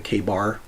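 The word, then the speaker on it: KA-BAR: on the other side you've got the the k bar name on it totally in new york that's how you pronounce it but yeah 40 years of hard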